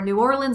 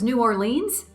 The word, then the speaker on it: New Orleans: So there are regional differences and regional preferences, whether it's Nevada versus Nevada, Louisville versus Louisville, or New Orleans versus New Orleans. When in doubt, do as the locals do.